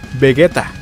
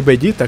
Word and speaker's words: Vegeta: como el de vegueta con la pronuncia vegueta el cual debería ser bellita como en el japonés y cuando brenda nava